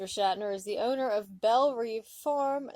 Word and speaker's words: Belle Reve: Shatner is the owner of Belle Reve Farm, that is pronounced as Belle Rave, by the way, oops, in Kentucky, and is a well-known breeder of saddlebred horses.